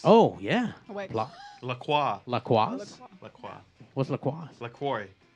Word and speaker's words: LaCroix: what they say here in America is LaCroix, and the company says it's LaCroix.